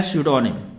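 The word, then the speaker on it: pseudonym: हमारा 147 में लिखा हुआ है स्यूडोनिम। ध्यान रहे इसमें पी से स्टार्ट होता है और पी वर्ड हमारा साइलेंट होता है और स्यूडोनिम का अर्थ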